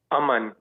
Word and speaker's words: Aman: Aman.